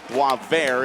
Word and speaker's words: Boisvert: Boisvert is the correct pronunciation. Checked with his family earlier today.